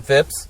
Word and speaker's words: Phipps: feel like I say it wrong, but Phipps.